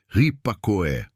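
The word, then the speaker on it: ὑπακοή: Para entendermos a natureza desta obediência, podemos olhar para a palavra grega rupacoe. Se pronuncia ripacoé.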